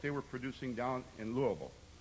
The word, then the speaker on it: Louisville: were producing down in Louisville you noticed I said it right Louisville how do you get